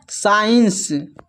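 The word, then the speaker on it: science: जब एस के बाद सी आए तो सी साइलेंट होता है। यहां पर देखिए एस के बाद सी है। तो सी जो है साइलेंट है। इसको पढ़ते हैं। साइंस फिर नेक्स्ट है डिसीपल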